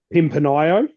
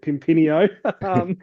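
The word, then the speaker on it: Pimpinio: involved with the um Pimpanio, which um we were um told very early on in our podcasting days that we were pronouncing wrong when we were calling it Pimpinino.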